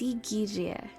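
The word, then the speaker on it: Sigiriya: Oh my god, I've been pronouncing it wrong. It's Sigria. Sigria?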